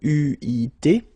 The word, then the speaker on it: eu: But you will have to pronounce it U.